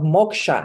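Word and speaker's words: moksha: my trainings I bring in the concept of Moka and everybody's like what sorry I said Moka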